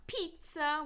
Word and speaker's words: pizza: Right, so obviously there will be some instances where the letter I is pronounced E. This can happen in borrowed words like pizza, which comes from Italian. We don't say pizza, but pizza.